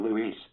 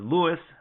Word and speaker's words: Luis: So I'm really happy to be back to being Luis and not Louis.